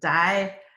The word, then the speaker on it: Dioscorides: Dioscorides, oh gosh, I practice pronouncing this. Dioscorides. Yep, that's what it was.